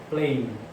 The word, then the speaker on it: playing: Eu acrescentei ing para ficar no gerúndio, playing. Lembrando que o G não é pronunciado.